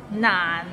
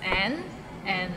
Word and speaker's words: 難: So it starts with n and ends with another n. Nan, and it's in a low tone, so nan.